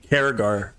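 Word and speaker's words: Cerrigar: Take me back to Saragar. Karagar. It looks like it's spelled Saragar, but it's spelled Karagar.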